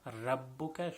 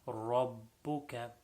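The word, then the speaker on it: ربك: So in this, the ra should be full mouth, not rabbuka, should be rabbuka.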